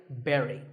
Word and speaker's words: bury: But this word sounds just like the berry in strawberry. So once again, bury.